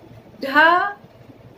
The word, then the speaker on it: ढ़: क्योंकि जब हम अड़ा और ढ़ का उच्चारण करते हैं तो हमारी जो जीभ होती है मूर्धा पर जो टकराती है वो झटके से टकराती है, जोर से टकराती है।